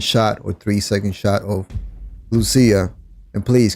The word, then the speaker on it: Lucia: And please, can all these people just stop calling her Lucia, bro? Just call it by her real name. But call it by how you pronounce the name is Lucia. And that's not because I'm a Spanish speaking person. Even if I wasn't, I still attempt to pronounce the name right.